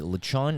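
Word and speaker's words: lechon: so good all the listeners or actually anybody lachan is spelled l-e-c-h-o-n and um if you're not into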